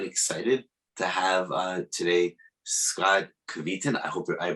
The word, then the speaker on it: Kveton: I'm honored and excited to have today Scott Kveton. I hope I pronounced your last name correctly.